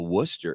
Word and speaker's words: Wooster: it went further to the south of Canal Fulton and it hit the Wooster area, right?